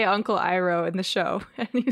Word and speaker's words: Iroh: They say Uncle Iroh in the show, and you said it correctly.